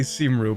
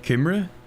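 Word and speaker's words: Cymru: Okay, I was about to say Simru, but someone told me that I'm pronouncing that wrong, and it's like Kimre or Kimri or something.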